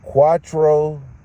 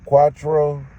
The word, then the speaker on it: cuatro: oh yeah oh yeah no pollution though yeah cuatro yeah that's how you say it huh cuatro cuatro Casa Casa four houses four houses maybe